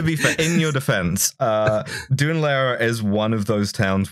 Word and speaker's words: Dún Laoghaire: People say that it's like, because the anglicized pronunciation, which like half of people use, is Dún Laoghaire.